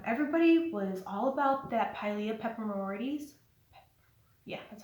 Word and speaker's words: Pilea peperomioides: Everybody was all about that Pilea peperomioides.